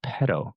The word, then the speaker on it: Paidal: So I know I was mispronouncing it, but pedal.